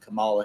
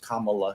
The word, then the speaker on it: Kamala: where Donald Trump has become president-elect and defeated Camala Harris Kamala Harris people get mad if you mispronounce it apparently um who was endorsed by